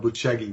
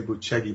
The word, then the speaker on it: Bucegi: Well, the claims are that in the mountains of Bucegi, it's spelled Bucegi, we'd say Bucegi, but they say Bucegi, and that's in sort of on the border.